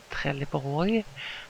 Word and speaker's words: Trelleborg: tires and it says Trelleborg as we call it in Swedish or pronounce it in Swedish.